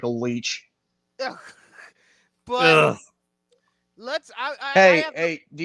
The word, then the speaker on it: Leitch: And it's pronounced Leech, but God damn it, Hunter.